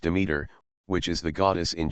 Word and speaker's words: Demeter: The name is pronounced Demeter, which is the goddess in charge of agriculture,